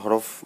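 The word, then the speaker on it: حاء: আলিফ বা তা সা জিম হা এর উচ্চারণটা একটু ডিপ থেকে হবে গলার মাঝখান থেকে হা দাল জাল র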